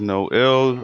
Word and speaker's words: no_il: I'm known in the Quake community as No Ill or No IL, or it's been pronounced to various different ways.